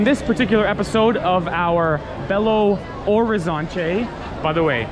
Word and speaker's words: Belo Horizonte: So on this particular episode of our Belo Horizonte, by the way, you don't pronounce the H, Belo Horizonte.